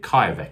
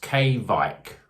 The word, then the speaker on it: kveik: on the back here it says it's pronounced well i mean they haven't written it very well but they pronounced k vike so is it k vike was that k viki k bike kybeck